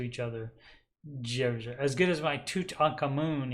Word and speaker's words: Djoser: I can never pronounce that. Is a D and a J right next to each other. Djoser.